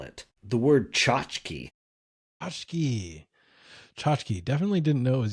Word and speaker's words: tchotchke: And then I might challenge you to spell it. The word tchotchke.